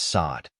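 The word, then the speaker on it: Saad: English it is spelled as sad the correct pronunciation of this word is sod sod means a female given name of African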